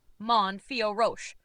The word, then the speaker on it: Manon Fiorot: The correct pronunciation of Manon Fiorot in French is approximately Mon Fioroche, with the emphasis on the last syllable of each name. Manon, pronounced Manon, where the N is nasalized, typical of French pronunciation.